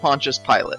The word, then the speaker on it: Pontius Pilate: be right it's you yes it's usually pronounced Pontius Pilate yes well that's dumb